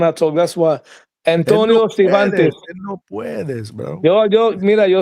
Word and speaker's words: Cervantes: the name of Antonio Civantes. That's who Benitez masterclass at the tender age of 17 years old. Huh? We just ain't gonna pronounce the R in his name.